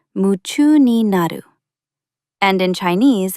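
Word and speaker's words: 夢中になる: In Japanese, you might hear yumchu ni naru, pronounced muchu ni naru.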